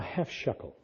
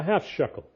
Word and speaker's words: shekel: activate it if we do something called a half shekele now half shekele shekele how do I spell that s h e k e l right Rian okay a half Shuckle half Shuckle we have a lot of people